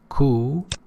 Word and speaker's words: coup: Newspaper reporter, he felt it incumbent or necessary, obligatory and mandatory upon him to depict the abortive coup, pay attention, P is not pronounced, coup, as a reprehensible act.